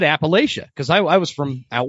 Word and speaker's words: Appalachia: So and you said it right. You said Appalachia. That's great. That's exactly how you want to say it. Like if you hear somebody say Appalachia, like you're like, that's wrong.